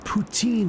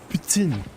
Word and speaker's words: poutine: Is when some ass corrects me and says, "You don't say it poutine, it's pronounced poutine."